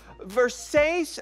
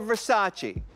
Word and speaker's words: Versace: Now, is it pronounced Versace or Versace? It depends on where you come from.